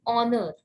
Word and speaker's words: honor: An honor, here H is silent.